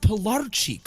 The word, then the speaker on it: Pilarczyk: like, it's pronounced Pilarczyk, right? If I'm Polish, like, yeah, you got it, buddy.